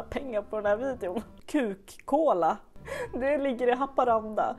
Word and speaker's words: Kukkola: Säger man kukkola? Kukkola? Det är såklart ett finskt uttal på detta. Men heter man Ola och bor där så hoppas man att folk håller tungan rätt i mun. Kukkola, ska man nog säga.